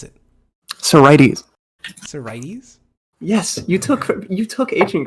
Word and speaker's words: sorites: How do you pronounce it? Sorites.